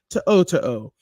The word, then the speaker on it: To'o: Henry To'o.